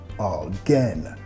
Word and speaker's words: again: También enfatizando la segunda sílaba de again, again, not again.